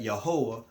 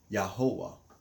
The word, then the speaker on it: Yahweh: We are the ones that Yahweh raised up as servants and witnesses to bear witness that he is one, and besides him there is no other.